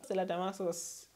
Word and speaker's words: Damasus: Stella Damasus. This call her Stella Damascus. But I'm not saying the C in her name. Maybe that's how they pronounce it.